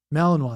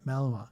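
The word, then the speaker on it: Malinois: Malininoa. That's it. That's how you say it. Malininoa.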